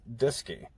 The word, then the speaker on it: DSKY: the display and keyboard acronymed as dsky pronounced disky and demonstrated here in flight on apollo 11.